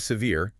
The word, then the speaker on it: severe: Then we have severe. Notice the stress on the second syllable. C VR E. Untreated PTSD can cause severe emotional distress.